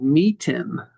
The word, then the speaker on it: Meetn: It's called Meeten. How do you spell that?